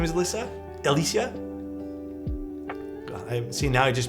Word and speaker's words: Alyssia: It's called the Alicia. I hope that I'm pronouncing it right, by the way.